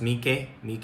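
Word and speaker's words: Mỹ Khê: It's pronounced My Khe Beach.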